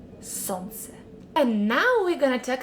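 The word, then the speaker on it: солнце: pronounce that correctly because the majority of foreigners do mistakes here sansa this is le in the middle so remove it from this word and pronounce sons and now we're gonna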